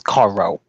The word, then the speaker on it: Cairo: Anthony said it wrong. It was Cairo. Or Cairo. It's Cairo. Kai. Okay.